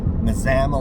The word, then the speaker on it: Mazama: Mazama is the last town in Washington before the northern terminus at Hart's Pass. So the little town of Mazama, Washington is pronounced like you would Alabama.